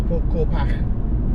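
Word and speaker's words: Corpach: anybody doesn't know, is because it's spelled C-O-R-P-A-C-H, and obviously the Scots people, sometimes it's the NCH is a ch, sometimes it's a, sometimes it's something else. So Corpash. Anyway, apparently it's Corpash.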